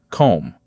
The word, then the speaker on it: comb: The word comb has a silent B. We say comb.